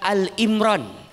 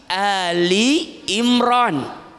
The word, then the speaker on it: Ali Imran: Dan ingat ketika membacanya bukan Al Imran tapi Ali Imran. Kalau Al Imran maknanya Imran sendirian. Tapi kalau Ali Imran berarti keluarga Imran.